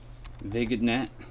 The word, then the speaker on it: vignette: Vignette is how it's spelled.